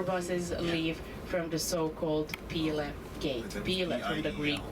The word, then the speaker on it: Pile: So, our bus is going to stop at the so-called Pil Gate. P I L E. You can pronounce it pile.